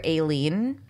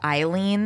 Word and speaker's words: Aileen: I've always called her Aileen and I googed it and it is generally pronounced Eileen and the a is silent but it is acceptable